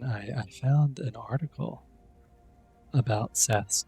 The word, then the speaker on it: Seth: I think Seth is pretty late because in Coptic it's spelled with an S sign, an I sign, or no, an E sign, and a letter borrowed from Greek, a TH. So I guess some people started saying Seth, like the, instead of Set.